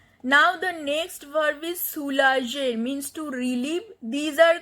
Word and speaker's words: soulager: Because when G is followed by E, the pronunciation of G is je. Otherwise, when G is followed by O or U or A, the pronunciation of G is G. But here the word is soulager. So that is why we have added an extra E to make the pronunciation of G as je, not G.